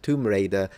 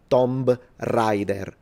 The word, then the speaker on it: Tomb Raider: Although every Italian, I'm talking 99.3% of the population mispronounces Tomb Raider into Tomb Rider.